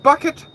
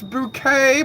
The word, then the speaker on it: Bucket: You're supposed to come, it's not Bucket, it's Bouquet. My name is Bouquet.